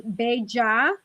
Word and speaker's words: bella: The double L in Spanish is y, like a Y. So it's bella or bellita.